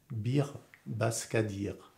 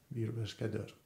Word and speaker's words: Bir Başkadır: Et si on veut prononcer, parce que les i sans point en turc on les prononce e, mais en fait ça s'écrit comme des i sans le point. Bir Başkadır. Bir Başkadır. Et le s il a un petit trait en dessous, ça fait che.